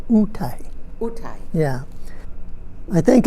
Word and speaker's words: Otay: And the kumbiyai don't pronounce it OTAY, they pronounce it UTAY.